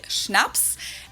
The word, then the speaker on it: Schnaps: alcohol culture in German we spell it like this and say schnaps and it means hard